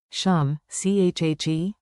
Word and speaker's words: શું છે: Pronunciation beat. Tap your desk, 2 beats, and chant with me. Beat it like this. Shum, chhe.